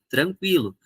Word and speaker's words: tranquilo: errado questão e tranquilo na língua portuguesa tinha trema e a pronúncia é tranquilo então se alguém hoje